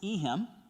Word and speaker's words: Ehim: Miss Ehim, and that's pronounced with an E. It's not Ihim, it's Ehim.